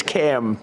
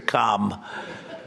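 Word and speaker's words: Kamla: It's Cam, right? Cam as opposed to Com. We don't like Com.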